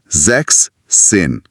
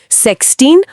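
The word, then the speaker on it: sechzehn: तो यह बन जाता है जैक्सिन। अच्छा एस ड्रॉप हो गया। जैक्सिन मेक सेंस बोलने में ज्यादा स्मूद है।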